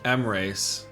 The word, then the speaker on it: Emreis: Emreis.